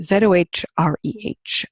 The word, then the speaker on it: Zohreh: Her name is Zohreh, Z-O-H-R-E-H. So it's pronounced Zohreh if you pronounce it properly, but of course nobody in Canada could pronounce it that way.